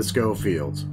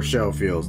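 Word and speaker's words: Schofield: and start off with the scofields or show feels depending how you wish to pronounce it now it's a very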